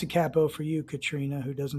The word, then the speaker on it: capo: to make him a cappo right and i'll pronounce a capo for you katrina who doesn't like when i say capo so he's got that going on and he's